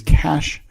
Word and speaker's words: cache: nowaday terms and technology is cash it's spelled CA CH e and basically it's a